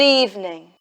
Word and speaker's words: evening: Pay attention to the v sound. Eve. Eve. Evening. In this word, the stress is on the first syllable.